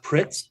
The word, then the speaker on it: Pritz: Kretz, is it? Did I have that correctly? The last name is Yeah. Pritz.